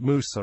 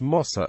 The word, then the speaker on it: Mose: The fort has also been known as Fort Musa or Fort Mosa, variants of the Spanish pronunciation.